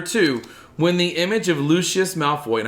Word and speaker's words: Lucius: when the image of lucius malfoy and i have to say it properly because i keep saying luscious around here and mark